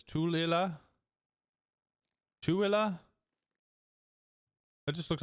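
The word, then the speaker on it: Tooele: Out-of-staters call it Thule, but it's Tulila.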